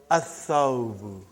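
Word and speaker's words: الثَّوْبُ: So, brother, whenever there is a sun letter, you will not pronounce lam.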